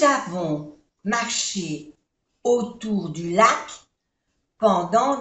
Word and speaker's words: avons: Nous avons, O-N-O, avons, no se pronuncia la S.